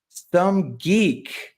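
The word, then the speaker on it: SomeG33K: For the record, going forward, my name should be pronounced as the threes as an E. Oh, some geek.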